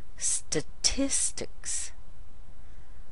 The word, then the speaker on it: statistics: pretty much the same the first syllable and the last syllable both have St St but on this last syllable we will add a k sound and an S sound which sounds like so we get